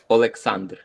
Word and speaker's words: Oleksandr: You want to hear it's exactly in Ukrainian? Okay, say it. Oleksandr.